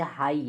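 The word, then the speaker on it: high: प जीच जीच प मानिए कि शब्द का लास्ट वर्ड अगर जी एच है तो वो साइलेंट हो जाता है पूरा जैसे हाई एच आई जी एच अब जीच से घ होता है वहां से वो समझ के पढ़ेंगे तो करेक्ट नहीं पढ़ पाएंगे ना तो ये साइलेंट हो गया एच आई से हाई ए आईटी phi silent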